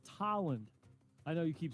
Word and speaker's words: Tolland: It looks like Toland. You're right. But it's I know. I'll say it now. Trust me. I'm putting it down on the thing now. Say T-A-land. So that's what. It should be spelled with an A. You're right. Phonetically, you're right. It does Exactly. sound like an A.